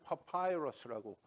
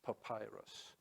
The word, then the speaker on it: papyrus: 근데 영어식으로 읽을 때는 파파이러스라고 발음합니다. 파파이러스.